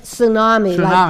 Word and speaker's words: Tsunami: It's Tsunami. Like the wave tsunami.